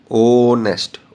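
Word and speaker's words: honest: यह कुछ वर्ड्स हैं जिनमें एच साइलेंट होता है। बोल के बताता हूं। ऑनर ओ की आवाज आ रही है।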